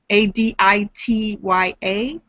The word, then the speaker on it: Aditya: And she said she would like the name of her hybrid son to be Aditya, A-D-I-T-Y-A. Aditya. Aditya. And the daughter... Adisha. What's that? It could be pronounced Adisha.